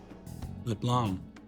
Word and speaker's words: Leblon: Leblon. I keep forgetting that that that's how it's supposed to be pronounced.